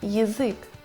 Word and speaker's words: язык: Но без ударения она превращается в И. Например, язык.